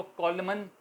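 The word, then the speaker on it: column: इस तरह कॉलम, रोज़ और कॉलम होते हैं तो हम उसको कॉलमन लिखते हैं मगर बोलते हैं कॉलम, एन यहाँ भी साइलेंट रहता है।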